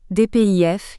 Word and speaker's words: DPIF: en mission c'est également le dpif à prononcer dpif qui sert pour débuter